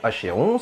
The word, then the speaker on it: Achéron: Charon de l'Achéron, et là aussi Achéron, Achéron, c'est à vous de choisir, de la marque Shine